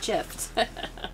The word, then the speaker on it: GIF: It's pronounced gift. A gift. That's right. As in giraffe.